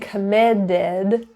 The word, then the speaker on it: committed: committed to the team notice and committed it's a flap T those teas are surrounded by vowels and it's in an unstressed syllable so committed is with a D sound your turn if any